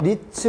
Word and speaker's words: REITs: 에게 리츠 일으켜 잖아요 이게 reits 이렇게 되는 건데 이걸 리츠 라고 읽어야 이럴때 금액의 리얼 이스테이트